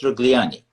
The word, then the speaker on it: Rogliani: And Elisabeth Rogliani. Was it correct pronunciation?